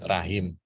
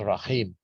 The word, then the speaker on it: rahim: Ya, kalau kita biasa menyebut rahim, sebenarnya bukan rahim tapi rohim. Ya, karena kita tulisannya pakai H, jadi kita bacanya rahim, padahal itu H ya.